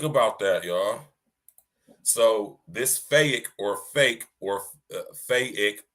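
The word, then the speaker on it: PHEIC: an endemic it is a fake but it's pronounced fake and a fatigue pronounced fake right applies to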